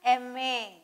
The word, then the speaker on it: MA: Rita is an MA because it has EM, this pronunciation.